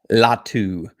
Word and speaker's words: Latu: Are you excited about Cameron, and what's the pronunciation? Latu.